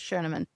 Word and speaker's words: Schoenemann: Nicole Schoenemann or Schoen, but I think she said the actual way you pronounce it is Schoenemann. But, Okay.